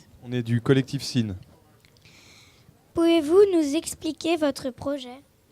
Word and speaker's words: SIN: SIN, c'est la première syllabe du mot sinusoïde.